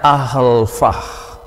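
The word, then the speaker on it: alpha: huruf besarnya seperti ini huruf kecilnya pengucapannya ahlfah lalu transliterasinya dengan menuliskan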